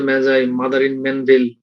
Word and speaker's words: Magi: Gift of দ্য ম্যাজাই বানান কিন্তু MAGI, এটার উচ্চারণ হলো ম্যাজাই, আবার তোমরা ভুলে অন্য কিছু উচ্চারণ করে নাও।